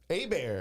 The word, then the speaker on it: Hebert: And then Herbert or whatever, that's spelled different. Is there, because A-Bear and Herbert, so like, because I'm not sure. But yeah, A-Bear, yeah. Yeah. So Herbert's different. Yeah. Is there an R in there?